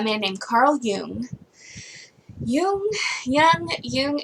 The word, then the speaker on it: Jung: a german guy so it's a german word so i'm gonna pronounce it german like jung that's probably not even right because who knows anyway a long time ago carl yoon came up with the